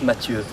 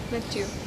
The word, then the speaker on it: Mathieu: This is the way you pronounce it in English, but in French it's Mathieu. Mathieu. Mathieu.